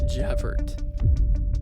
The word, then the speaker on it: Javert: His name is Sergeant Jeff Javert. Yeah, he pronounces the T at the end of his name. It's fucking French.